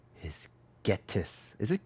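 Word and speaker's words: Ghetsis: I name is Getus. Is it Gettis? Hatus. How you say his name? Getis.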